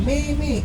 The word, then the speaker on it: meme: Ya meme, M-E-M-E, meme. Bapak itu bape, B-A-P-A.